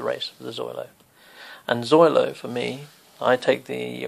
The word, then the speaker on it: xoylo: the meaning of the word zoilo which is spelled x o y l o so just to sum